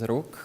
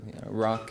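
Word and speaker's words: Rok: uh so hi everyone my name is rook or if you have trouble pronouncing the slavic rock is fine as well so well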